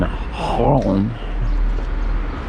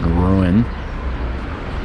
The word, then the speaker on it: Rouen: so we are in Holland which is if you're American you probably pronounce it ruin or wrong and we are at